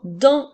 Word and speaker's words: dans: des dents qui sont dans ma bouche alors le mot d'un s'écrit Dan qui font le son 1 et la lettre S est une lettre muette alors nous avons dans comme dans les phrases